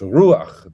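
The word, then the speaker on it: רוח: For example, spirit, ruach. So it's ruach. The accent is on the U, and it's just a short A, and the A is written to the right of the chet, not straight underneath it.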